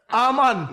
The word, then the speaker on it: almond: Almond. Rascal. I can't manage you now. Let me show my almond check here, man. Yeah, you did. What you pronounce it? Almond, the L is silent.